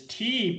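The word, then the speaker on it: 茶: the world and it's tea because um it's let basically in a sou Chinese language mean n language the the the the word for Te is pronounced te so whatever um tea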